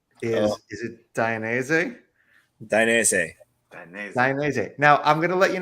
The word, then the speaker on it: Dainese: it down for is is dynasty so z-e-h at the end so dynasty z-e-h and yeah which has just been dropped on us yeah easiest way to pronounce it okay been around since